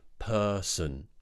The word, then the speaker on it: person: very neutral per so it's not son it's not person I know the spelling looks like s o n but it's actually awah sound so it's relaxed mouth person person she's the kindest